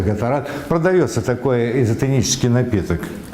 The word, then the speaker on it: Gatorade: Вы можете использовать Gatorade, или как он у нас правильно произносится, Гаторад.